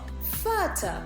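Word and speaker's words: Vater: further further is called further in children further it is written with the V and the V is pronounced like an F further dare further okay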